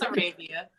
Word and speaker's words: Arabia: Right pronunciation, wrong language. But yeah, it's Arabia.